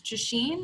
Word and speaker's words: Justine: Sara like she said my name is Justine let's pronounce like machine with Jay and I work on